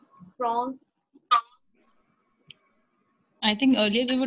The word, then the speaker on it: France: Ma'am, we pronounce it as La Frosse, La Frosse. La Or France. La we France. have to pronounce R. Where? We have to pronounce R. France.